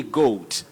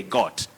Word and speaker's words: goat: So John Bunei of Dhika and all those who love good or acceptable pronunciations, you should remember that. Then we have John Ondiech. You say goat, goat, G-O-A-T, goat. Don't say got.